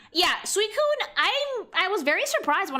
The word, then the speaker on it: Suicune: How do I pronounce this, Sweet Queen? Suicune. Yeah, Suicune, I was very surprised when I found out that this was not an ice type.